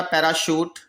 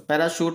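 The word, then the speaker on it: parachute: ऐसे एक होता हमारा पैराशूट, तो पैराशूट होगा एक, पैराशूट, ठीक है। तो इसे पैराशूट पढ़ेंगे, गलत मत बोलना।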